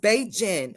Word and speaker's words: Beijing: Great said it's pronounced Beijing.